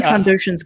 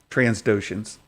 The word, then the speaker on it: Trandoshans: I love when Trandoshans come up because Santa can never say it right. No, I always put them in LGBTQ plus, Transdoshans.